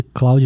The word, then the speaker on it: Claude: e ele é aquele ele é Cloud que se escreve mas ele é francês daí tu que sabe falar francês e me falaram assim ah isso aqui tem que falar clou é se é Claude é